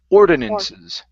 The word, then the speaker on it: ordinances: let's go to um ordinances the stress is here at the very beginning ordinances ordinances okay very good